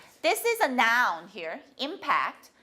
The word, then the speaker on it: impact: Impact. This is a noun here. Impact. If it's a verb, how do you say it? Yeah, impact. Impact. 2-2. Okay? If it's 2-1, impact, that's a noun.